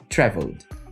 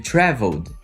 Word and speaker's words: traveled: o worked e o traveled tá vendo que os dois tem Ed no final mas eles não t o mesmo som Eu também não falei